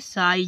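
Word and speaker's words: sigh: हाई जैसे कि साई जी एच है लास्ट में इसलिए साइलेंट कर दिया साई मींस आह फाइट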